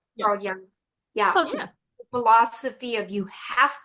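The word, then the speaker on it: Carl Jung: I love Do you Am I pronouncing his name right? Carl Young. Yeah. Yeah. Carl Young.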